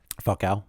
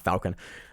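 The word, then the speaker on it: Falcão: um but Pedro Falcon how do you say his name falca falca yeah I knew I was like not Falcon uh falca MMA fighter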